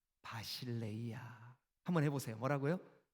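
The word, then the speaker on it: βασιλεία: 신약 성경이 기록된 헬라어로는 하나님의 나라, 왕국 이걸 뭐라고 발음을 하냐 하면 바실레이아.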